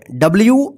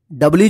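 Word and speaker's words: do: लिखना डू डी ओ डो नहीं पढ़ेंगे इसको डू पढ़ेंगे ड मतलब करना वाक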